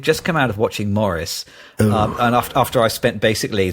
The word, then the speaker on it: Maurice: So we've just come out of watching Maurice, and after I spent basically the last 35 years mispronouncing the name of this film and book, so it's definitely Maurice and not Maurice.